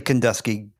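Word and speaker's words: Kenduskeag: camp in the upper Kandig. I don't know how you pronounce that but it's a real the what? It's just simply Kandeski.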